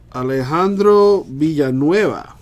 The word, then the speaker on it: Alejandro Villanueva: we still got eight boxes to go through Alejandro Villanueva that's how you pronounce that for the Steelers with a little